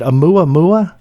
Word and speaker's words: Oumuamua: were, and I'm probably going to botch the pronunciation, but is it Oumuamua?